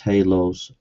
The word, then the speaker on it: halos: Good grief, it's pronounced halos. See, ad hominem attacks.